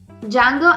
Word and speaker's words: Django: And so, Django Unchained, remember the D is silent, is an American revisionist Western film written and directed by Quentin Tarantino.